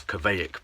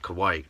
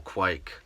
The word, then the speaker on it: kveik: right lines but yeah I read it as Quebec but apparently kawaii or quake is the proper way to say it so this is some